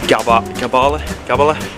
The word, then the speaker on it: Gabala: On our way to Constant van der Stok Stadium to go watch the mighty Anderlecht play the Azerbaijani champions Gabala. That's how you pronounce it.